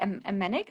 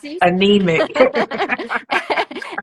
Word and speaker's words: anemic: um we all look how do you say amenic like we all look like we anemic and we are